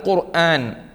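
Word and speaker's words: القرآن: ഖുർആ ഇൽ ഖുർആന അൽ ഖുർആൻ ഖുർആൻ എന്ന വാക്ക് നമ്മൾ ഉപയോഗിക്കുമ്പോൾ അത് കാഫ് കൊണ്ട്തന്നെ പറയണം അതാണ് അല്ലാഹുവിൻറെ കലാമിന് നമ്മൾ ഖുർആൻ ഖുർആൻ എന്ന് സാധാരണ എല്ലാവർക്കും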